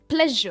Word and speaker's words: pleasure: और again pronounce नहीं होता, इट्स प्लेजर और प्ले पर इसका स्ट्रेस है। प्लेजर।